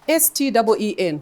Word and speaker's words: Steen: So if you hear Steen, the name Steen being thrown How around, do you pronounce it? S-T-E-E-N, Steen.